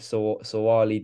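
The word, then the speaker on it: Suaalii: the most recent thing being about the Joseph sawali deal that's how you say his name um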